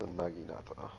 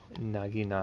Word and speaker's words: Naginata: Your how'd you pronounce it again? It's a Naginata. Naginata.